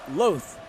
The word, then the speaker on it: Loath: by number nine grant grant loath rhymes with both did i get that